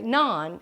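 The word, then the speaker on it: naan: Big D said he didn't know how to pronounce it that's okay none it's none it's like a P Pocket kind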